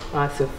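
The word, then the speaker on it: آسف: How do you say sorry in Arabic? Asif.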